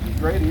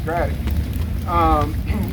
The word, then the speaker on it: Grady: And we'll tell you it's Grady, and his family up the road here in Duplin County will tell you really quickly, it's not Grady, it's Grady.